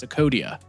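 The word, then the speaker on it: Psocodea: Barklay belong to their own order of insects known as cucodia with a silent P.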